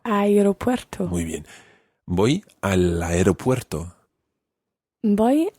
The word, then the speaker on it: aeropuerto: right but I Roberto you pronounce the e and E aeropuerto aeropuerto women boy al aeropuerto